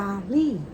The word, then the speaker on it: 压力: ว่า กด ดัน เ เรียก ว่า ยารี่ y a เส 1 L เสียง 4 อ่าน ว่า ยารี่ แปล ว่า กด ดัน